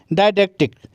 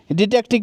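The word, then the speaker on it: didactic: Educational को बोला जाता है डायडेक्टिक। वैसे इसको आप डिडेक्टिक भी पढ़ सकते हो। ये दोनों ही तरीके से प्रोनाउंस होता है। डिडेक्टिक भी होता है और डायडेक्टिक भी होता है।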